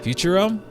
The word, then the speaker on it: Futurum: Futurum.